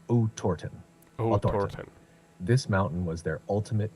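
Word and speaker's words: Otorten: began their Trek toward Orton Mountain pronounced roughly as OT torton this mountain was their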